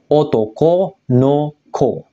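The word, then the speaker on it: 男の子: beda minasang beda lagi jadi cara bacanya nanti adalah pakai kunyominya otoko no Ko Kenapa makakai kunyomi karena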